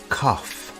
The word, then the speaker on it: cough: Our next question is, do you have a cough? The word cough has an unusual pronunciation. Instead of a G sound, we have an F sound here.